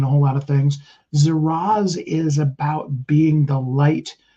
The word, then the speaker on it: Zaraz: Zaraz.